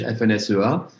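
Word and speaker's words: FNSEA: of the french organization fnsoa the french umbrella farmers umbrella organization f-n-s-e-a or as i pronounced it in french fnsua bonjour i will introduce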